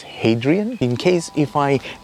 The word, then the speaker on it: Hadrian: pronounce his name correctly in Russian it is pronounced as Adrian in English I think it is Hadrian in case if I